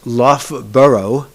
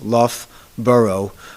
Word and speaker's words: Loughborough: it the locals pronounce Loft burrow o u g h used two times in that Town's name and two different pronunciations love burrow o-u-g-h especially for non-english